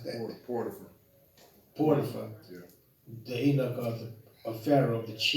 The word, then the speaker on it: Potiphar: and they sold him to, how do you pronounce that? Potiphar, Yeah.